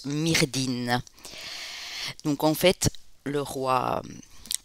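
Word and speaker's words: Myrddin: galloise merlin qui ont qui en breton se prononcent mais résine et qui est qui qui en gallois se prononcent myrdhin donc en fait le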